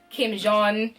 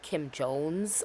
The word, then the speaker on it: Kim Jones: bags and totes and Kim Jong. I always pronounce his name really extra. It's definitely Kim Jones.